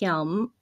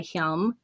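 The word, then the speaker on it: Hjelm: Waldo County Superior Court Justice Geoffrey, I believe it's pronounced Hilm, granted her damages of $21 million plus interest.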